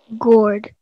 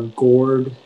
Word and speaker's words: gourd: Gourd. Can I have all the information, please? Yeah, so the only two pronunciations are gourd and gourd.